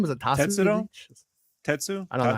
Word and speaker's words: Tatsu: Tetsu? I don't know how you say it. Yeah, I had no idea. Tatsu, yeah, that's right.